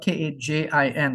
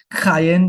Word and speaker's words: Kajin: It's pronounced kayen. Because the J is pronounced like a Y.